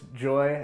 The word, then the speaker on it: Joi: But, you know, seeing that her name was Joy and it's spelled Joi, there's no way that was a coincidence.